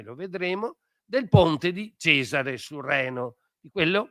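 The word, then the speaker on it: Caesar: vedremo, del ponte di Cesare sul Reno, di quello che noi chiamiamo Cesar e che loro dicevano Kaisar perché pronunciavano in questo modo e eh quindi eh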